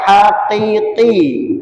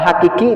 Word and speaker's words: haqiqi: Ikhfa haqiqi, ya, haqiqi. Biar tidak diganti qafnya, diganti kaf. Kalau hakiki nanti beda lagi.